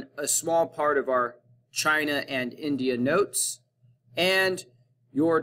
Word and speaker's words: Qin: this dynasty was the qin dynasty chin pronounced c-h-i-n spelled with a q is where china gets